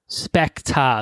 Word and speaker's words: Spectre: let's go to specta specta that's how they say it in british um in british it's